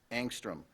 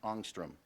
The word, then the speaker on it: angstrom: all right this word has two pronunciations I'll give you the most common first angstrom also pronounced angstrom the diameter of a